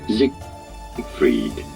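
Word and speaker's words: Siegfried: That sounds like an S to me. Zikrit. However, in English, this is usually said as Zik. Ah, so in English. So gotcha. Zig freed.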